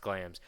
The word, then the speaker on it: Glamis: Oh, Is it Glams? Yeah, I it's typed in pronounced- Glamis. No, it's written Glamis. It's Okay. pronounced Glams.